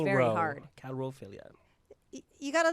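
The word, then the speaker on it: coulrophilia: Chlorophilia. Chlorophilia. That's correct, right? It's calrophilia.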